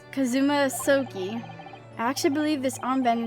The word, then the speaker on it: Kazuma: It's pronounced Kazuma.